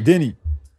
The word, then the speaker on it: Dani: هاي بنتي كتهضري تعلمتي ياك داني on prononce ton prénom comme ça on dit Dani Si tu veux. Dani Tant que tu dis pas Dani Danette, c'est bon ça attends je vais noter